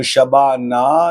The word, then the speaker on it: شبانہ: ہا لٹکی ہوئی ہے لیکن ہا کا تلفظ نہیں ہوتا ہے۔ جیسے شبانہ لکھنا ہوگا انگریزی میں بھی تو شبانہ، نون اخیر میں ایس، شروع میں لکھے گا SHABANA، ایچ نہیں لگائیں گے کیونکہ یہ ہا لکھی